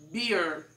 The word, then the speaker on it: bear: Então você vai utilizar como se fosse a letra B e a letra R, né? Beer.